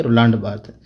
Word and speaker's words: Roland Barthes: Okay, Roland Barthes. That's how these names are pronounced.